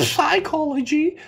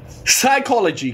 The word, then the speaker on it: psychology: that psychology psychology but why is it not psychology it starts with a P psychology guys we have had silent L's silent RS silent K's and Silent s's but right now we got a silent p i can every English